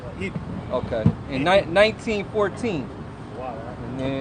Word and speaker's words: Ypres: You say it like Eep, but it ain't spelled like that. Okay. It's a French. Ypres or Ypres. Ypres. You just say Eep.